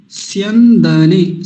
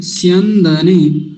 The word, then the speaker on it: स्यन्दने: अगला शब्द देखेंगे, अगला शब्द क्या है, स्यंदने, स्यंदने, स्य और न भी जोड़ देंगे तो आसान हो जाएगा, स्यन, स्यंदने, ऐसा, स्यंदने, स्यंदने, स्यन, स्यन, मेरे साथ बोलेंगे, स्यन दने, दने, स्यंदने, हो गया।